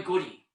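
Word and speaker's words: Goudie: name was big boy goodie g-o-u-d-i-e but pronounced goody and i've never heard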